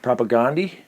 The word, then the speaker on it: Propagandhi: propagandy's one of them and propagandy propagandy propaganda i don't think you go wrong either way yeah i'm pretty sure i pronounced it both over the course of my life first playthrough i just